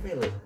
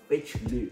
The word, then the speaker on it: Vejle: Namanya tuh kotanya tuh Vejle. Nah, waktu itu dia tuh masih remaja dan dia pergi ke bacanya Vejle. Ya seperti itulah kira-kira. Tulisannya F V E J L E.